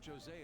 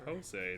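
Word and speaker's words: José: right we should consult jose about this soon however i can feel my appetite growing after describing my idea saying it's jose not jose the j is silent it's like an it's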